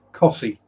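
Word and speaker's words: Costessey: garboldishum it's pronounced garbochum uh costa c is pronounced cossie uh taco neston is pronounced tackleston and christ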